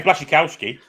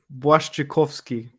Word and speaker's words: Błaszczykowski: Even I can say Blazakowski. It's Błaszczykowski.